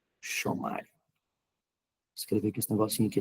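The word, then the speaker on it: ἔρχομαι: A palavra vem, do grego, é Ershomai. Ershomai.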